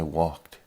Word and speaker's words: walked: you walk yes I walked to the store the letters ed are a little bit hard to pronounce try to remember that the letters ed sound more like the T in Tom look looked open opened